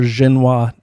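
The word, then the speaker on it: Xinhua: guys will also hear xenoa Newsnet a lot you can find them right on the internet right on um uh Twitter it's spelled x i NH uh x i n h UA like Jena um Newsnet they're actually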